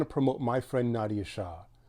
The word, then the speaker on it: Shah: I, of course, want to promote my friend Nadia Shah. Some people pronounce her name Nadia Shaw. I don't think she cares too much either way.